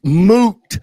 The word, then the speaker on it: moot: It's moot, not mute. Mute means turning the noise off. Moot means it does not matter. Moot. M O like boot, like your shoe.